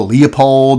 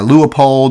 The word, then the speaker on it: Leupold: people pronounce that differently some people call it a Leopold or a lua poled whatever you call it whatever you want to